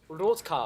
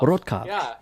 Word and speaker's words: Rotkav: And so I took, and Rot is red, Cav is cavalier, red cavalier, which was my first car I got in 1994. So it's actually pronounced Rotkav. Rotkav.